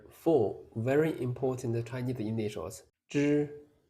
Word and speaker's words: zhi: Zhi is a retroflex sound. Your tongue should curl slightly backward. The tip of the tongue touches the hard palate. The roof of your mouth slightly behind the teeth. Then release the air. Release the air. Zhi, zhi, zhi, wu, zhu, zhi, wu, zhu. Don't pronounce it like z, he separately. It is one sound.